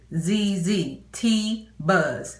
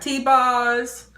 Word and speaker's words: TeaBuzz: T-Buzz, not T-Bars, T-Buzz. Okay, so the first thing